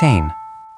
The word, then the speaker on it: zehn: Again, that's sound. Ts-ain. 10. Zehn.